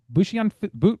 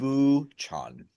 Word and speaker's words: Busan: in the midst of Bushian. Is Bushian right or Bukian? How do you pronounce this? Neither. Buchan? It's Buchan. Buchan. Thank you. I've been saying it wrong forever.